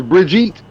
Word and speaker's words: Brigitte: And you know, Styles has basically admitted that Bridget's name is Brigitte, and that when we watched that graduation video, that's how they pronounced her name when they called her up there.